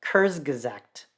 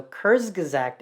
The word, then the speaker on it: Kurzgesagt: whose name i really hope i'm not brutally mispronouncing because it's a german word it's kurzgazakt so kurzgesagt in a nutshell is you know a place